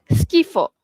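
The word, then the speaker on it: schifo: So, S C H I kita sebut sebagai ski. Okey, ski bukan she dah. Dia terus jadi ski. Contohnya skena. Okey, scena. Skena is back belakang skena ataupun skifo.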